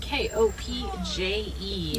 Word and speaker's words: kopje: Now this structure of rocks on our left here is known as a kopje. That's spelled Kopje. Not at all how I would think to spell the word kopje.